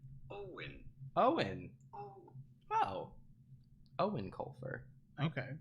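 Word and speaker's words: Eoin: just want the pronunciation not like it's spelled but simply owen owen oh owen colfer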